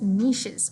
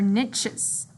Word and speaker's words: niche: So A, take over other animals' niches or niches. Jobs. So a niche is a job, or a niche is a job. There's two ways of pronouncing that.